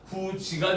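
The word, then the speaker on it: 굳이: 이것의 대표적인 예는 우리가 굿이의 발음이 구지가 되는 거예요.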